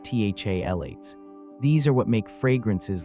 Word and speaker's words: phthalates: Most commercial air fresheners, whether they're sprays, plug-ins, or those little gel cans, contain a cocktail of chemicals called phthalates, pronounced THALates.